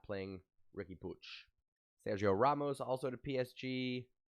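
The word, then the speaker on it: Puig: push is gonna play i said puy in america it's pronounced puy ricky pooch uh i don't think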